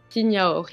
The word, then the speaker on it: signadori: Signadori. Signaori. Signadori? oui, parce qu'à Oui. Bastia, les dés, on les prononce pas beaucoup. Oui. On les inspire.